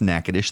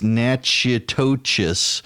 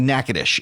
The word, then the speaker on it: Natchitoches: the name NACA dish you won't know it's pronounced NACA dish that's how you can tell a native of louisiana from someone who's not a native of louisiana if you're not a native of Louisiana its natcha totus but it's actually NACA dish and it's Natchitoches